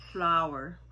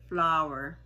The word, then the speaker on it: flour: Ito po ay ka-homonym ng salitang ito. Kaya ang tamang pronunciation po niyan ay flower. Flower. Magkasintunog sila ng flower.